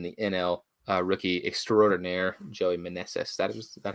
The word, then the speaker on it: Meneses: late and then the NL rookie extraordinaire Joey Meneses that was that how it's pronounced yeah 34.